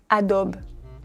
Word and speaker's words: Adobe: Cette marque, on la prononce Adobe. Adobe Photoshop, Adobe Premiere Pro. Mais normalement, on dit Adobe. Encore une fois, comme pour Nike, on ne prononce pas le E à la fin du mot.